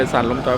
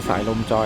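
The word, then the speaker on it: สายลมจอย: ก็ ออก เสียง เป็น สั ลม จอย บาง คน ก็ ออก เสียง สาย ลม จอย แต่ อิติ ก็ คือ สาย ลม จอย นะ ครับ ประมาณ นี้ ครับ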